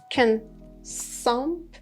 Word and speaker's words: consumption: the noun is consumption, consumption. The second syllable has the main stress, and that's why that U should be said with a sound. But the O is said with the schwa sound.